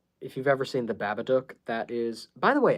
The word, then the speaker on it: Babadook: I'm more concerned with the D-O-O-K part, because I promise you it is supposed to rhyme with the word book, the word look.